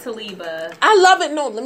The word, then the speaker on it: Talibah: It's like I want to say Taliban, but it's actually Talibah.